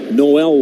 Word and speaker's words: Noel: John Kenzie yes and it's Noel like the holiday season is the season yes swinging a Miss